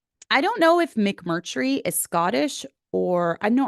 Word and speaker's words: McMurtry: Having a name like McMurtry, everyone pronounces it different ways. Most oftentimes they say McMurdy. They leave the R out.